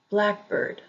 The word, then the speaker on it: blackbird: Compound nouns usually have the emphasis on the first syllable. For example, highway, highway. Blackbird, blackbird. Compound verbs usually have the emphasis on the second syllable.